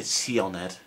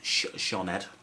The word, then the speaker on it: Sioned: So you don't say Sioned, no, Sioned.